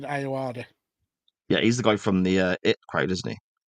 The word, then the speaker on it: Ayoade: a geeky way by Richard Iode. Is that how you say it? Richard Ayoade, Yeah, he's the guy from the IT crowd, isn't he?